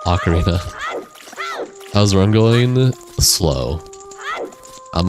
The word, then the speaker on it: ocarina: Oak Arena. What the hell? You guys have weird ways of pronouncing words. I've never heard anyone say orc orcarina or ocarina or or ocarina. I always just said ocarina.